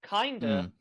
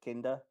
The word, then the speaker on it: Kinda: thought it was just kinda yeah i did until i watched the episode because when you read it it's like oh kinda but no it's kinder where's bizarrely okay um